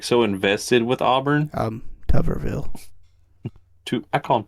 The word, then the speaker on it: Tuberville: Tuberville. I thought it was Tuberville. It was Whatever. TT. I'm just messing with you. But that is how you pronounce it.